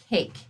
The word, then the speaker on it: cake: let me tell you this letter right there is silent so it's the e makes the a say its name that's big stuff let's